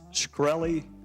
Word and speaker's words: Shkreli: Is it pronounced Shkreli? Yes, sir.